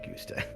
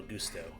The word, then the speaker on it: Gusto: in order to nail Gusta. Oh. You put the wrong emphasis on the wrong syllable. You know how Samson was wrongly convicted? We had to pretend that he wasn't in order to nail Gusto.